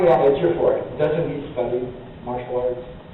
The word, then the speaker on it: Ejiofor: Ejiofor, how do you pronounce it? Ejiofor, yeah. Ejiofor, doesn't he study martial arts?